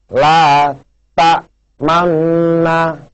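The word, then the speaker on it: لَا تَأْمَنَّا: Sedangkan yang seperti ini, ya, bacanya huruf na ini disuarakan antara fathah dan dhamma, kedua bibir dimonyongkan atau disebut dengan bacaan ismam. Contohnya seperti ini, pemirsa, la ta manna, ya.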